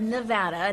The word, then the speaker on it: Nevada: While campaigning in the swing state of Nevada, native New Yorker Donald Trump started the rally by telling locals how to pronounce the name of their home state.